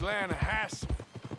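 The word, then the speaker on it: Lannahechee: no no no no the the lah hatche it runs right near here yeah but it's pronounced lass why is everything in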